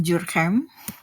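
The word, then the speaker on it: Durkheim: sosiolog modern ya eh email jurkem Jadi dibacanya seperti itu kalau mau dengan logat Prancis Ya kerabat jadi ada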